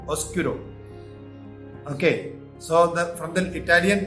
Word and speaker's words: oscuro: But in Italian it is oscuro. No B is there. Oscuro.